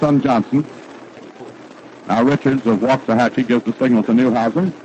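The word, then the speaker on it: Waxahachie: Richards Richards comes from waah hatchee he tells me that's the way to pronounce it down in Texas we've been calling it waxahachi and we apologize now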